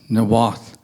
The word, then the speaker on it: Niwot: we're on Arapaho Avenue, and I live in Niwot, which is actually pronounced Nawath, and I learned it's pronounced Nawath from Ava Hamilton.